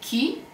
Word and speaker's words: chi: So C, H, E, and it's pronounced che, which means what. And if we want to say chi, we should use C, H, E.